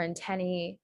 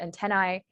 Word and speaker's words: antennae: For antennae, you can also pronounce it antennae.